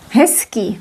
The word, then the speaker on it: hezký: Now you know why we pronounce s here, because it's influenced by k. Voiceless, voiced, and when you look at the pair, it becomes s.